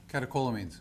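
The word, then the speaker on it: catecholamines: causes great pain and this led to increased calomines how do you say that calio maybe you can help me out okay thank you catakolamines calakolamines those are the hyper hormones epinephrine norepinephrine and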